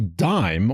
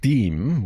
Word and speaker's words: disme: Next in line is the dime, or dime, whichever you prefer.